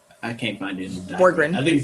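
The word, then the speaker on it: Bjorkgren: I think the B might be silent. It's not. It could be, but it's not. No. So is it Borgren? Bjorken. The J must be silent.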